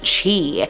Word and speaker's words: chi: But if we look at the history of the word Christ in Greek starts with the letter X, but it's pronounced chi.